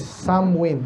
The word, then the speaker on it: Samhain: ko dito yan eh ang spelling is samhain sa parang samain no pero ang ano daw niyan pronunciation is samwin ah sorry saw festival